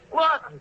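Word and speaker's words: Laughton: Lawton, Duffy. L-A-F-F-T-O-N. Yeah, Lawton. That's how the English spell it.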